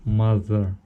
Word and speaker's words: mother: А дальше вот смотрите, если TH дает thumb, то вот здесь TH, слово mother. Mother. Вы чувствуете, как з есть, а здесь thumb.